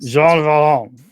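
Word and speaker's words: Jean Valjean: Pronounce it through your nose. You like halfway there. That just sounds disgusting if I try that. I just got to force the air up and out through the nose.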